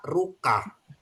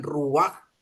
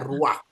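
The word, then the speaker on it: רוח: Rua Memang secara apanya secara literalnya bacanya ruka tapi harus dibaca dengan Ruak karena ada ini ada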